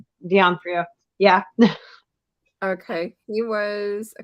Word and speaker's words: D'Onofrio: And then Vincent, I can't pronounce his name. D'Onofrio. D'Onofrio.